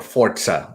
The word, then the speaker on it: Forza: is a physics-based game or forza as they want us to say you must say it correctly forza is a is